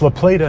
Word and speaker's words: La Plata: It's La Plata, not La Plata. It's spelled La Plata, but everyone in Southern Maryland calls it La Plata. So it's La Plata.